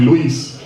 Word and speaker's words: Luis: to fight in meetings, have people call me Luis instead of Louis, then I'll do that nowadays. So Luis, this meeting is not going to continue if you don't say Luis. It's one syllable, Luis.